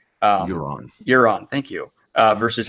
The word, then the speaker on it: Euron: You had a wonderful video going into comparing book Aaron, I can never say his name right. Euron, thank you.